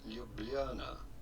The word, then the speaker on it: Ljubljana: In Slovenian, it is pronounced something like Ljubljana.